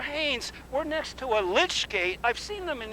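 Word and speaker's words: lych: and and father haines we're next to a lich gate i've seen them in england can you explain what that is sure good morning and welcome to st mary's church and churchyard a lich gate is named after the the the word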